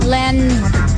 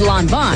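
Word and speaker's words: Lanvin: oh l n Vin I think it's Len then H close actually it's Lon Von wow it's got to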